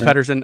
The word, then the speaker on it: Pedersen: It's Pedersen.